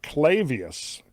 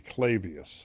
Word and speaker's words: Clavius: Um the crater I believe it would be Clavius, not Clavius. Clavius is correct.